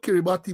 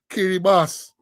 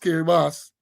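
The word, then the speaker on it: Kiribati: year the countries got to be they call it's spelled kerati but it is pronounced uh kirbas k i r i b a ti pronounced kerbas and um Samoa and vanuatu said then well it's Kbas Samoa and Vanoatu Well, my my um my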